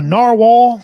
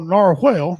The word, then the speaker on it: narwhal: A narwhal or narwhale, depending upon where you're from, the pronunciation is correct either way, is a medium-sized toothed whale that passes a large tusk from protruding canine tooth.